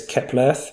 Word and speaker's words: Keplerth: I should also point out, I'm pretty sure it's Keplerth because it's Kepler Earth.